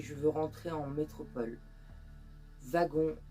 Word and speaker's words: Wagon: veux rentrer en métropole wagon prononcé wagon comme Marion le prononçait malheureusement c'était une fausse